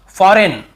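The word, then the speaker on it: foreign: है campaign campaign campaign यहां पर भी जी साइलेंट है कैंपेन फॉरेन बहुत से लोग फॉरेन ऐसे पढ़ते मतलब याद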